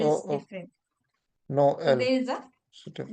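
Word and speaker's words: Noël: Then in that case what happens is with the help of threma, it breaks the pronunciation of the word into two half. Okay. First we have the example which is Noel, Noel.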